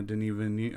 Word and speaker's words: Denis Villeneuve: to say his name I used to say Dennis V oh yeah because that's how you spell it but then I heard